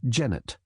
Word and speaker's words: Janet: Oh, hi Janet. She betrayed herself as a foreigner by pronouncing the name to rhyme with Ganet. Janet Wadman herself, like a good New Brunswicker, used the gentler Jennet.